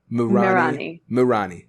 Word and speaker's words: Merani: right right and your last name would be murani yeah perfect it's a beautiful name is is